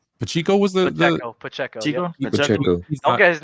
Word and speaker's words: Pacheco: Pacheco. Don't get his name wrong.